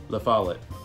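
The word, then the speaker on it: La Follette: La follet.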